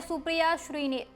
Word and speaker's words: सुप्रिया श्रीनेत: Expert Hardeep Puri की video share करते हुए सुप्रिया ने लिखा हरदीप पुरी जी नाम है सुप्रिया श्रीने। अगली बार सही उच्चारण कीजिएगा।